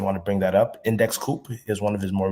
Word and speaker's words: Index Coop: Index Co-op. They spell it like Index Coop, but it's Index Co-op for Index Cooperative.